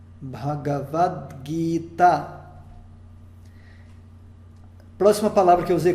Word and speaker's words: Bhagavad Gita: Então, Bhagavad Gita, nós temos a primeira sílaba Bha, a segunda Ga, a terceira é Va.